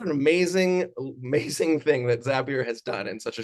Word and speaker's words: Zapier: So in just a moment, I'm also excited to introduce you to a leader at Zapier, rhymes with happier, who I'm proud to say is both a partner of Talent Collective and Power2Fly.